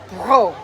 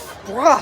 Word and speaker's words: Brough: Tonight I am with Josh Brough. Brough. See, I said it wrong. Josh Brough.